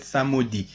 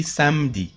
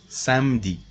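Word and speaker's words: samedi: tuesday kodi wednesday jody thursday wonder friday samd it is not pronounced like that samudi we say samdi samdi landi monday maddy tuesday mercodi wednesday jody thursday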